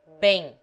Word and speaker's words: bem: Bem is pronounced as if spelled B-E-N-G, but without the final G sound.